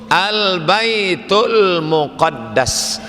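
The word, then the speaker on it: al-Bait al-Muqaddas: Kalau pakai Albaitu Albaitul Muqaddas. Tapi kalau tak pakai Al Baitul maqdis. Nah, itu cara membacanya.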